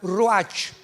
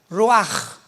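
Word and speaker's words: רוח: Apunta la palabra espíritu en el hebreo, es como suena, ruach, R de Raúl, U-A-C-H. Pero la CH en el hebreo se pronuncia como J, ruach.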